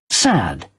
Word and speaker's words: said: E aqui nós vamos ver a pronúncia de said. Sad. Sad. Os mais observados. Até mais longo. Mas é um pouquinho mais, entendeu? A diferença é mínima, não precisa se preocupar. É sad, sad.